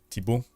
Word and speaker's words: Thibaut: Yeah, and I pronounce it the French way, right? Thibaut.